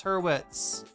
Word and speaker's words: Hurwitz: Sarah, I can pronounce her name correctly for once, Hurwitz, with a W.